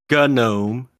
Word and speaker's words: GNOME: into my comment sections telling me how to pronounce gnome I will ban you uh it's gnome yes and anybody says oh it's not go